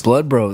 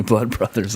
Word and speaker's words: Blood Bros: talking about blood Bros blood Bros I'm so happy to always hear it pronounced the right way I get super annoyed when people say Blood Brothers I've no idea why